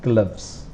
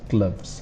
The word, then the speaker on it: gloves: it might be a u but the pronoun pronunciation is gloves and this e is not pronounced gloves one sound face shield face shield this is